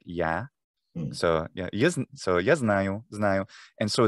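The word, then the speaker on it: я: It's a more znaju, and also ya, meaning I, is actually more like ya.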